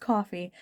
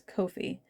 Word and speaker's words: Ko-fi: They have a it's not pronounced coffee as much as I want it to be coffee. It's Ko-fi, and it's not Ko-fi. It's Ko-fi. Like low-fi.